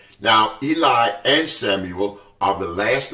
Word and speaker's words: Eli: Now, the other thing that you'll notice about both the names Eli, and I'm going to pronounce this name as Eli for the duration of this mini Bible webinar, and Samuel, you'll notice that both of them have embedded in their names E-L.